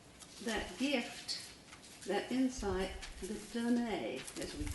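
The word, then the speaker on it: donné: There's first of all that gift, that insight, the donne, as we call it, D-O-N-N-E, with an accent on the E, which means the given.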